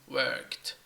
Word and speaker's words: worked: where kid it is worked worked there is no extra syllable when I say there is no extra syllable it means there is no vowel sound between the K and the T yeah worked worked and